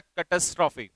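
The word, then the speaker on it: catastrophe: इसका प्रोनाउंसिएशन होता है कैटास्ट्रॉफी।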